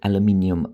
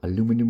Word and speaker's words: aluminium: BB a 6 mm aluminium ball or aluminum aluminum like the Americans say or a 6 mm